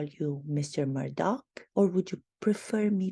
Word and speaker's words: Murdaugh: with the last name his name is pronounced differently by different people some people call it Murdock and other people call him murder murder murder due to